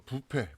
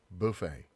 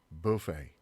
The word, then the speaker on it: buffet: 자, 에 발음이 난다는 얘기예요. 그 다음에 이것도 우리가 뷔페, 뷔페 막 이런 식으로 많이 읽는데 영어 발음 좀 달라요. 읽어볼게요. buffet, buffet.